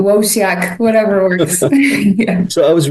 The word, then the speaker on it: Wosiak: pronounce your name uh the Polish people pronounce it vosak but I'm absolutely comfortable with vak W wak whatever works so I